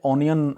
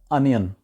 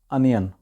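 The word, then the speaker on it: onion: جی انین، پیاز۔ اب اس کو وہاں پہ اونین زیادہ تر بولا جاتا ہے جو کہ غلط ہے، اس کی صحیح پروننسیشن ہے انین، انین۔ اگلا لفظ ہے جی اڈیپٹ، ADAPT۔ اس کو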